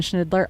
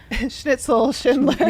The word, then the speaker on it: Schindler: And then just about 40 seconds behind her, Kristen Schnidler. Also, I'm not going to say her name right again. They'll correct me. Schindler. Yeah, Schindler.